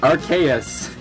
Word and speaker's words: Arceus: It is pronounced Arceus.